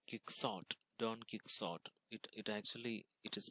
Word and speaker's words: Don Quixote: In English, it seems like Quixote, Don Quixote. It is pronounced as Don Quixote.